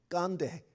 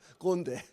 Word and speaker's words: 꼰대: KKONDAE 깐데 꼰대 깐데라고 발음하더라고요. 꼰대.